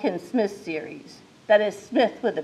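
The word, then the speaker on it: Psmith: Smith's series that is Smith with a p p s s m i t h but the p is silent you'll have to admit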